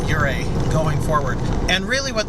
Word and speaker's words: Ouray: Ure from other people but the vast majority say oray and that's what I opted to go with just uh testimony that the majority is not always right so henceforth I will strive to pronounce this correctly um fighting a incorrect habit and so I will try to call it uray going forward and really